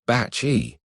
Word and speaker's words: Bacci: He introduces himself as Cardinal Bacci. Pronounced Bacci, he insists, though the Roman dialect has already nicknamed him Cardinale Basixia, loosely Uncle Bubble.